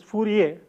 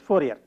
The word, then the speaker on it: Fourier: The French probably pronounce his name as Fourier, but in common with the usage in English speaking countries, we refer to him as Fourier.